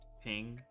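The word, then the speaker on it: PNG: it's a ping file remember how we talked to the guy who invented the ping file and he said it's pronounced ping do you not remember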